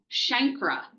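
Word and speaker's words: chancre: um so primary syphilis is defined by the shankra and that's how you pronounce this. It's not a it's not what do people call it? C canker.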